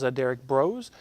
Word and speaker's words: Derrick Broze: Our next one up is Derrick Broze. Did I pronounce that correctly?